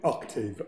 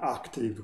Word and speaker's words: octave: Normalmente la O viene pronunciata in maniera molto aperta, la A molto chiusa, quasi da diventare una I, quindi molto spesso scritta si capisce, ma nell'ascoltare molto spesso diventa una active, quasi active, per cui